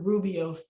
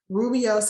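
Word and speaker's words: rooibos: in the grocery stores it is spelled r o o i b o s and the reason why i wanted to spell it is because it doesn't really look like how it sounds but you will see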